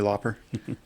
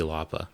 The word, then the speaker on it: Lauper: Yeah, and maybe some Cyndi Lauper. Yeah. I never pronounced the R. I was Cyndi Lauper.